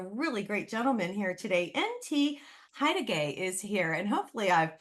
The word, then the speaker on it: N.T. Hettigei: I have a really great gentleman here today NT haay is here and hopefully I've pronounced your name properly is that right n